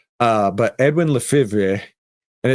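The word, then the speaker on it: Lefèvre: Uh there is a very good book called uh reminiscences of a stock operator by Edwin Levra Lefiv. It's like Brett Favre, right? It's spelled weird. Uh but Edwin Lefra and it's supposed to be uh based on Jesse Levermore.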